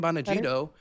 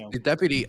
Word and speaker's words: Bongino: chat And then Dan Bonagino, I believe his name is pronounced, Bongino.